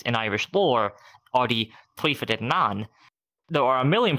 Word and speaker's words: Tuatha Dé Danann: Okay, so it's Tuatha Dé Danann, correct? Close. Tuatha Dé Danann.